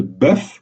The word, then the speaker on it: bœuf: Alors, dans le cas de bœuf au singulier, on prononce le F et donc la syllabe est entravée. Comme dans tous les cas précédents, syllabe entravée signifie voyelle prononcée de manière ouverte. Et donc même le E de bœuf, vous voyez, est ouvert.